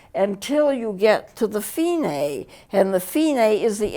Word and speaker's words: Fine: some music and this finae is important the finae is spelled f-i-n-e like fine but it's not pronounced that way in music it's fine this dc